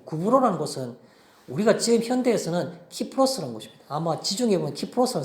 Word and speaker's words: 키프로스: 뭐 그냥 영어식 미국식 발음은 사이프러스 이렇게 말하는데 우리가 일반적으로는 키프로스 이렇게 말하고 지중해 있는 아주 큰 섬입니다.